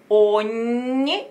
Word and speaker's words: ogni: Eterge ogni stilla. Eterge ogni gna gna gna gna, like yo, york, like yo, yo, yo. Ogni, but a little more gna, because you can hear the tongue gna touching the palate.